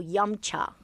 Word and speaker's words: 饮茶: And I actually wanted to ask you about your Yumcha podcast.